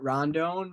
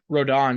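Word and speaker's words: Rodón: I would say yeah go for it when rodon is how you say it Rondon uh rodon yeah John my apologies when rodon comes back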